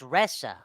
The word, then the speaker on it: Risa: His name is Risa." Pronounced Ressa.